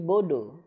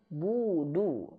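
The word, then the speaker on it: نعبد: Nah, akan terjadi menjadi bodu. Harusnya budu, ya. Bukan bodoh, tapi budu.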